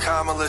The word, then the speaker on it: Kamala: to appeal to you Cala I know it's pronounced KLA trust me I have